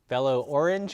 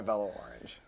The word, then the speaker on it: Velo-Orange: people want to know is it pronounced fellow orange or Bella orange I tend to tell people you can pronounce it however typically we go by Bella orange but it's okay that add the the French flair okay so passenger is